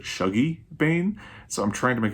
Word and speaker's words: Shuggie Bain: way i kept saying i have always pronounced it shogi bane but i saw a video with douglas stewart where he was talking about some of his favorite scottish books and he pronounces it shuggy bane so i'm trying to